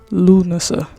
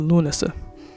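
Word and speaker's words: Lughnasadh: So, the one that I'm going to cover is called Lunasa. Lunasa. I'm sorry, I had to I had the pronunciation written out. So, sorry. It's called Lunasa.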